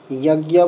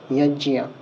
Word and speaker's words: যজ্ঞ: যেটাকে আমরা যজ্ঞা বলি, সেটাকে এখানে বলতে হবে যজ্ঞিয়া।